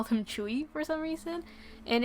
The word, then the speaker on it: Tzuyu: my sister and I will just call her Tzuyu. But then we realized when we watched a couple of Twice shows, we realized that her name is actually pronounced Chewy, or something along those lines.